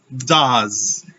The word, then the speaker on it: does: Fíjense que estoy diciendo do, una U larga, y does. No estoy diciendo does. No hay O, no hay E y tampoco hay S en la pronunciación. Hay un sonido que es el siguiente. Se llama schwa. La E no suena y la S es una Z.